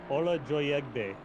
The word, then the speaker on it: Joyegbe: Is that how you pronounce it? Yep. I made him pronounce it to me one day. I was like, how do I say that? Exactly how it's spelled. Ola Joyegbe.